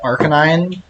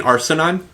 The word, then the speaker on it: Arcanine: I will say once you get to, like, Arcanine, some of these attacks are not telegraphed well.